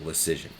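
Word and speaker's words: Leschyshyn: to the Rangers, Jake Lecision. Don't ask me how to spell that. It's a bunch of consonants mushed together, but it sounds like decision with an L, Lecision.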